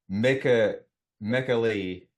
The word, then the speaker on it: Michele: Actually, it's Mekali Soavi Soavi, Mekali. But Michele Soavi, he also goes by Michael, which is easier to say in English.